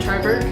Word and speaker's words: Triberg: Is it Triberg?